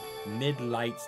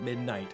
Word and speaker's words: Midlight: Midlight Deep. Not midnight, midlight.